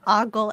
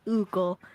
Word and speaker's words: ogle: Lemon Pie says, I have to say, if Scotty pronounces ogle as oogle, then I'll concede that it is correct. It isn't correct, but if there's a